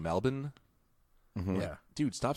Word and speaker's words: Melbourne: know how like Australian people when they say Melbourne they say Mel Melvin Melvin okay well I was talking to this